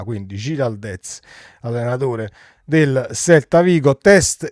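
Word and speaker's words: Giráldez: Credo che si pronunci così perché ha un grande accento sulla, quindi Giraldez, allenatore del Celta Vigo.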